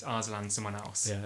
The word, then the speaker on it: Arslan: That was the heroic story of Aslan from The Lion, Witch and the Wardrobe. Arslan. Arslan. There's an R in there. There's an R. It's not Aslan the lion. Yeah. It's Arslan someone else.